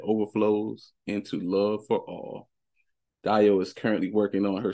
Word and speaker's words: Dayo: Dayo for short.